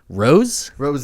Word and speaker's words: ROSÉ: So, I think it's Ros. We're gonna stick with Ros in this one. Ros, I guess rhymes with Jose, which is what Justin's goatee looks like right now.